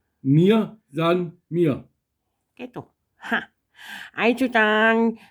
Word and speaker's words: Mir san mir: Die Betonung ist ein bisschen komisch. Wir kriegen die Betonung raus aus dem. Nur einmal. Mir san mir. Nicht san. San. Mir san mir.